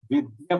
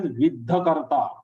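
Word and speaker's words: विद्या: Now in this fourth charan, most of the people are making mistake as vidhakarta. Vidhakarta is not correct. Vidya. That ya needs to be pronounced in a way that it is heard like ya.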